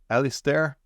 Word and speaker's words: Alistair: And to explain that to me, I brought a coworker with me today, Alistair. I pronounced that correct this time, right?